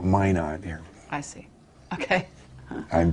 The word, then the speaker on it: Minot: but that was really it's minot yeah minnow mono north dakota that's the french pronunciation yeah amer we americans call it mine on here i see okay